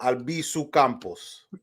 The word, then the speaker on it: Albizu Campos: it in english but how do you say the name in non-english in spanish yes it's pedro albiso campos oh but in english